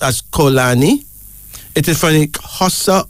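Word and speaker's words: Xolani: Kolani, and it's spelled X-O-L-A-N-I, pronounced as Kolani. It is from the Xhosa of South Africa. A male name meaning please forgive. Kolani.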